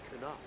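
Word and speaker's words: Knoop: K-N, Knight, you know, just the silent K. And no. The second baseman is Knop.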